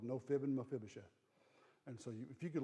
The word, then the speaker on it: Mephibosheth: on come on come on there you go mephibosheth say it just say it fast it rolls right out mephibosheth the whole reason I know how to say